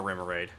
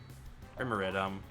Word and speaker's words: Remoraid: I at least want to catch one more Remoraid.